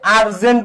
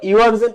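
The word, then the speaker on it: urgent: কিন্তু যখন তুমি আরজেন্ট বলতেছো তখন কি ইউ ইউ এর মত উচ্চারিত হয়েছে নাকি ইউ আই এর মত উচ্চারিত হইছে?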